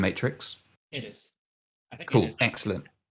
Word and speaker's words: MTRX: I'm assuming that's how it's pronounced. It's MTRX. So I'm going to call him Matrix.